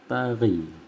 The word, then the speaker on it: taghi: Kalau ditulisan dieja dalam bentuk tulisan, tari itu ditulisnya T-A-G-H-I, taghi tulisannya, tetapi dibacanya tari.